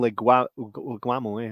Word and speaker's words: Leguizamo: Bob Hoskins and John Leguizamo, that's how you say it.